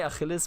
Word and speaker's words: Achilles: I always say Achilles because that is how it's pronounced in Greek, you know, but it's also how we pronounce it in Germany.